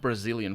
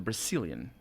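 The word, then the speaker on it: Brecilian: It's not Brazilian forest. I sometimes pronounce it very close to that. It's the Brazilian.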